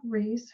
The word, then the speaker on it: Reiss: I went to a session with Brenda Reese. Her last name is spelled Reiss, and she's a forgiveness coach.